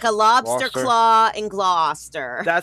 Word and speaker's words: Gloucester: It's just Well, you could be saying glouster like iso. What were you saying there? Glower. Yeah, it's it's blah. It's Gloucester like claw like a lobster claw and Gloucester.